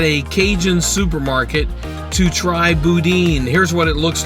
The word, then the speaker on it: boudin: some and I found out that it's actually pronounced Boudin not Boudin the really nice cashier seemed to really get